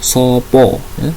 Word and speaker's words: sapa: Nah, tulisannya sapa tapi membacanya sopo, sopo.